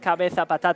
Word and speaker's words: Cabeza Patata: But she found very, very funny the word Cabeza Patata. It has so many A's. And it's so open, like Cabeza, like how you say it in Spanish.